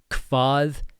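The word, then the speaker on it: hvað: Hvat heitir þú? Hvat heitir þú? Important things with pronunciation here. hv sounds like a kv.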